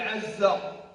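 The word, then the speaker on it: عزّ: Le mot aziz, la racine même, elle s'écrit avec ayn et deux fois zay. Deux fois zay. Zay, zay, qu'on abrège par une shedda, on dit azza.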